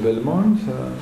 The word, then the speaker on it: Belmont: belmont qui est l'europe belmont se prononce à la française est à l'origine des principes une grosse action de bioéthique qui et c'est une un rapport produit dans ce lieu qui s'appelle belmont à la demande de